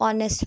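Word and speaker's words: honest: वो साइलेंट है और दूसरी जगह पे लिखा हुआ है ऑनेस्ट वो नेस्ट नहीं पढ़ते उसको ऑनेस्ट पढ़ते हैं क्योंकि उसमें एज साइलेंट होता है देन है कॉमिनेशन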